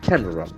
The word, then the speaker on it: camera: red camera camera okay this pronunciation is very interested has got only two syllables camera can we listen to